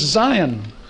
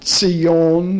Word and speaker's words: Zion: a little more hebrew it's zion but if you say zion to a person who speaks hebrew oh of course he would know what that is but generally mispronounced words don't mean a thing to a person who speaks that language and of course we were taught in seminary see yon and to draw them